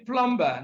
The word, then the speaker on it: plumber: is super no B plumber no even though we have letter B in Plumber B is silent C is copper no